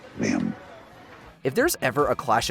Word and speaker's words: Liam: a coffee shop and rather meekly correcting a mispronunciation of his name. Liam? I have a scone for Liam? Over here. It's, Liam.